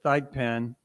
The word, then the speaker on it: Thigpen: you Mr chairman uh I interviewed Melvin he pronounces it th pen uh back in on